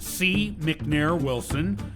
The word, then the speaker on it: C McNair Wilson: enjoyed this interview with C McNair Wilson remember this C is silent sharing his insights and